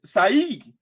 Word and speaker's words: Saeed: And so his name is Saeed. But the people will call him Say.